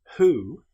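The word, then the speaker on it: who: however with the word hoo this is pronounced as if the W didn't exist it's pronounced like it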